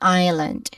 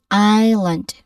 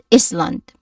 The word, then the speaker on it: island: Even though it's there in the spelling, we don't actually pronounce it. Meaning it's a silent letter. So we say island, not is land.